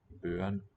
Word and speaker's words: børn: Børn. børn, Okay, this is the glottal stop that comes in certain words.